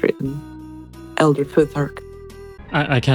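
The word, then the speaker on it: Futhark: is pronounced the way it's written. Elder Foothark.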